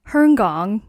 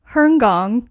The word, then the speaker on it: Hong Kong: go around and say i lived in herngong that's the proper way to say it that's crazy i never even knew that say that one more time herngong wow whoever pronounces it